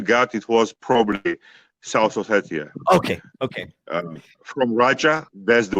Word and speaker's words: Ossetia: know about that with Ezia. And I did not. How do you say it again? I said that wrong. I know. The region. Yeah, the one that they're occupying. Ossetia.